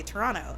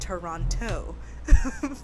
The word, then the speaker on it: Toronto: I'm from Toronto because I say Toronto and not Toronto but because like people who aren't from Toronto say the whole like enunciate every single syllable but um people would